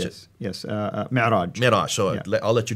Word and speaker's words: Mi'raj: But that's where, called the Miraj. How do you pronounce it? Yes, Mi'raj.